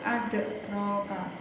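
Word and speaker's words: أدراك: Wa ma adraka dan bacanya dengan memantul adraka ma yaumuddin.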